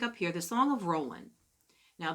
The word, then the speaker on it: Roland: here the Song of Roland now the D is not pronounced in the Song of Roland because it's French okay so it's the Song of Roland okay it reflects the